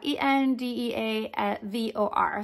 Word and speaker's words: Endeavor: And the name of this airline, now correct me if I'm wrong, because I might, with my accent, not pronounce this well, Endeavor, E-N-D-E-A-V-O-R.